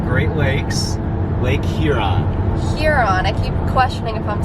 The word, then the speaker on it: Huron: Huron. I keep questioning if I'm saying it correctly. You're saying it perfectly. Huron.